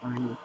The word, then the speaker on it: Anie: That's what her name is pronounced, Anie.